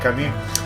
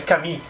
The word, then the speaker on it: Camus: Camus se pronuncia, hace la boca como una O y dices I. Hace la boca como una O y dices I. Albert Camus. Sí, no es Camus. Porque mucha gente dice Camus, pero no es Camus, es Camus.